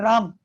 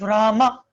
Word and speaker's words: Rama: Hare Krishna, Krishna Krishna, Hare Hare, Hare Rama, Rama Rama, Hare Hare. It's not Ram, it is Rama. It's not Hare Ram, Ram Ram, Hare Hare. It's not Ram, it's Rama.